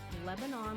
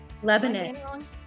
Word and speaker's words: Lebanon: Pennsylvania oh howdy Lebanon Lebanon oh yeah I think it's Lebanon I think that's how we say it in PA I could be wrong